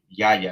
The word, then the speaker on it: Yaya: They do this with the main or the great spirit of the Tainos was Yaya is the name. Yaya is how you pronounce it.